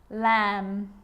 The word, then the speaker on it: lamb: Now there's a rule to remember with the letter B. It's always silent when it follows the letter M. Climb, crumb, lamb, thumb, dumb, and plumber. So practice them with me. I'm not pronouncing the B, I'm just pronouncing the M consonant sound.